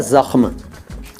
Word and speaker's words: ज़ख्म: पहला शब्द है ज़ख्म। ज़ख्म, जख्म कहते हैं कि लोग, जख्म, यार जख्म हो गया, बहुत गहरा जख्म हो गया।